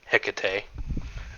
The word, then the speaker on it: Hecate: Um, and that is uh a channel uh an entrance uh a gateway that Hecate uses or however you you pronounce it. I like Heate, but people do Hecate.